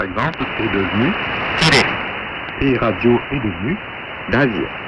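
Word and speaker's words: ラジオ: et radio est devenu. Radio. Le R de radio est prononcé comme un L.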